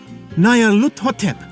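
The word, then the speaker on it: Nyarlathotep: This phrase is pronounced Nayar Hut, or more likely, Lut Hotep. Nayar Lut Hotep, that's it!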